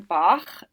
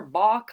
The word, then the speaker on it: Bach: More bock, less talk. So, not not the greatest pronunciation of the the name Bach, but you got to make it rhyme, right? More Bach, less talk.